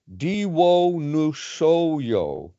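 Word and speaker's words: Diwonusojo: the first half said, Diwo Nusoyo. So you just pronounce that very quickly, Diwo Nuso, Diwo Nuso, Diwo Nusos.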